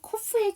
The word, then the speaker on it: cough: 하일리의 GH가 있고 코프의 GH가 있는데 두 개의 GH 발음이 동일한가요? 그쵸? 하일리의 GH는 묵음이고요. 코프의 GH는 F 발음입니다. 동일한 슬라이드, 즉 동일한 기사에 GH 발음이 같이 나왔으니까 같이 한번 구분하시는 기회가 되셨으면 좋겠어요.